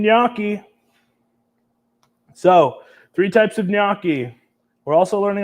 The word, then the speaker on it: gnocchi: can I get a niaki in the chat GN a w Ki it's not how you spell it but it is how you pronounce it don't look silly so